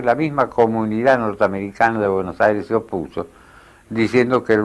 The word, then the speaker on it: Buenos Aires: la época, junto con el extraño nombre de Buenos Aires, que ellos pronunciaban Bonus Aires.